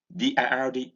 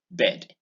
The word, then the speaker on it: bird: And IR in bird, it's long. It's got an R vibration.